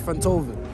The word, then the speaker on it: Fentovic: thank you my name's lord fentovic like fentanyl and beethoven oh okay let me